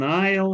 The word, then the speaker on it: aisle: An aisle seat. Смотрите, не читайте aisle, никакого там aisle нет.